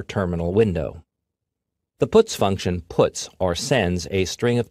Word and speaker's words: puts: They are pronounced printf, putcar, and puts.